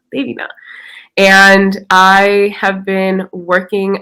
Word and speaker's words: Devina: uh my name is devina it's pronounced day t-h-e-y they vena devina and i have been